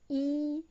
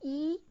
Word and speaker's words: 一: When E is followed by a syllable in the first, second, or third tone, it changes into the fourth tone.